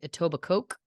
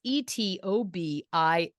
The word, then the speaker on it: Etobicoke: it was I was watching but they kept pronouncing it etoba Coke ouch it was Americans uh doing the documentary so for those listening who are curious the spelling is e-t-o-b-i-c-o-k-e so it reads etoba Coke but it is pronounced Etobicoke and uh yeah